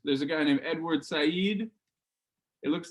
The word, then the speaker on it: Said: But yeah, his name is pronounced Said.